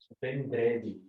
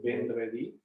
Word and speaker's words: vendredi: Wait, so in the French, it is, how do you pronounce it? Vendredi. This is Friday, hey? Vendredi.